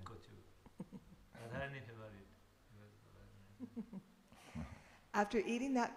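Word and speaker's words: কচু: The two cowherd boys, Jambula and Rasala, then bring Krishna pan made with betel nuts, fancy spices, and kachu. How do you say that? Kochu.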